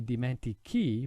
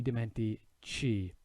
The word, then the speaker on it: dimentichi: Now if I weren't to put that H in there, the sound wouldn't be dimentichi, but it would be dimentici.